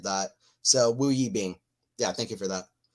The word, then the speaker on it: Wu Yibing: Yeah, I try to learn a lot of the players' pronunciations, but I just knew I butchered that. So Wu Yibing.